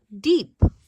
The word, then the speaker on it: deep: And here's this word deep. Two E's together. When two vowels go walking, the first one does the talking. It says E. The second one is quiet. So it says de-eep, deep.